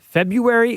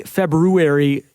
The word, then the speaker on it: February: can agree you have you need the r February February you tell us five